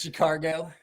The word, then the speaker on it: Chicago: feel you man chicago cargo that's how uh when i go down south to see uh my mississippi side of the family with my mom that's how i got a couple uncles that's how they say it chicago is she cargo chicago i [ __